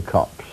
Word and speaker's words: copse: the older form, but it was always pronounced copse by anyone, that is, who was born anywhere near them.